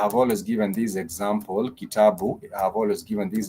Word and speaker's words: kitabu: It has the key, the ta, and the bu, the key, the ta, and the bu. So those are 3 syllables. The key, the ta, and the bu. And those three syllables, they have alternating vowel sounds. So the ki has a vowel E, the ta has a vowel A, and the bu has the vowel U.